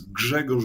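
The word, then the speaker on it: Grzegorz: I should point out I'm using the the Western pronunciation of of your first name so to my polish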